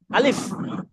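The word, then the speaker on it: ألف: যাবে না এইটা টান নাই অন্যগুলোতে টান আছে আলিফ আলিফ সবাই শুনেন শুধু কামাল ভাই পড়বেন আলিফ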